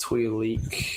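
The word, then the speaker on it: Twi'lek: Twix Twi oh that's I think it's pronounced twe leak Star Wars 6 uh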